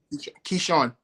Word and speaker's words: Keishorne: How do you pronounce it? Say it again? Keishorne. Okay, I was saying it correct.